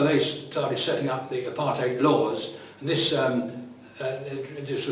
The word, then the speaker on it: apartheid: which means separateness uh we sort of pronounce it apartheid over here but that was a mistake when i think when the word groups this country apartheid is what it's called in south africa and i switched between